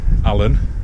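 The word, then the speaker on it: Aln: so it's spelled i-l-n the locals pronounce it Allen so it's Alan mouth the river Allen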